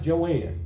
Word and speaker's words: Joanne: this lady here is you said that's joan scott but no it's pronounced joanne i don't know why they still go in that way but joanne scott she was a